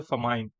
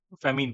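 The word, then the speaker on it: famine: तो भूखमरी को हम कहते हैं फमाइन, फेमीन, फेमीन, अकाल पड़ जाना, जो कहते हैं ना अकाल आ गया, फेमीन या फेमाइन जैसे प्रोनाउंस करना है।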